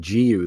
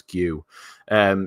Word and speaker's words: Guiu: I just learned how to say his name as well. I was going Giu the whole time. They were like, no, it's Guiu.